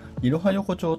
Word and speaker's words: 壱弐参横丁: いますここは 123 横長と書いて色ハ横長と読みますここも誕生和